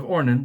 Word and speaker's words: Ornan: the threshing floor of ornan the jebusite or Aruna dependent upon which language you're pronouncing his name in David purchased it from